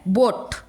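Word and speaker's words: boat: बोट, गोट, ये बोट और गोट दोनों ही एक ही कैटेगरी के हैं। बोट, गोट एक ही कैटेगरी। बी ओ बो, ट, ए ओमिट हो रहा है, बोट।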